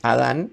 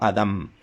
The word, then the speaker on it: Adam: y no con N, porque en hebreo en realidad el nombre de Adán se debe escribir con M al final, para dar una pronunciación más exacta. No es Adán, sino Adam.